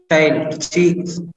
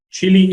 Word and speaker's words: Chile: Chile is what you mean. Well, Prashant is on fire today. He is absolutely right. The answer, Vinson Massif, is indeed claimed by Chile, but he pronounced it a little differently for some strange reason.